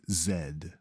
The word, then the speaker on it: Zed: Z is James Bond for reasons known only to the British a z007 would pronounce its name Zed if x marks the